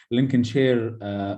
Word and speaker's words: Lincolnshire: It should be pronounced like this: Lincolnshire Hospital in UK.